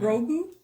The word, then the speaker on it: Grogu: Grogu?